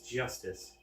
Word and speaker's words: Justice: Apollo Eustus. That's justice. Better learn how to say it if you ever want to get some.